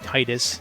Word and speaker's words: Tidus: You get weird situations like Final Fantasy X, where, you know, like Titus, and that's how you pronounce his name.